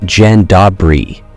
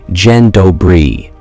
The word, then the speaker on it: Dzień dobry: It's not Dzień dobry, as many assume. A correct attempt sounds like Dzień dobry, with smooth, flowing syllables.